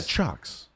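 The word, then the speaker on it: Ciocks: how to say it shock cc7 no this one Chucks Chucks yeah chalks come on Dylan c-i-o-c-k-s but it's pronounced chalks let's go with it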